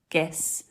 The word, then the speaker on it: guess: come to exceptions but things like the word guess or guest or Guild or guilt the G is followed by what you are you yeah so that would make you think it's a soft but it's not it's hard it's the same rule it's not i e or Y so it's guess guest Guild guilt there are exceptions we're